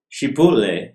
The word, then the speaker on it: Chipotle: Chipotle est prononcé comme le piment mexicain.